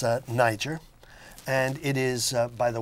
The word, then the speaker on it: nyjer: thistle excuse me niger the real name is niger now spelled nyjer2 to avoid any particular uh pronunciation problems with that and it started with